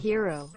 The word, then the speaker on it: gyro: I know it's That's a common pronounced one. hero, but I call it Euro cause it sounds cooler.